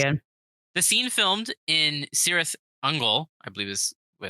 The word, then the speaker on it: Cirith Ungol: The scene filmed in Cirith Ungol, I believe is what it's pronounced. Sirathungu. I think it was Kirith, Uncle. Cirith Ungol? No, Kirith. Kirith? Kirith Mhm. Ungol. Kirith Ungol.